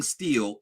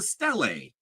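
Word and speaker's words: stele: By the way, she keeps saying steel. It's a stelle.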